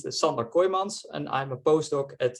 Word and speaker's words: Sander Kooijmans: um yeah so uh as Carlos correctly pronounced my name is indeed summer koimans and I'm a postdoc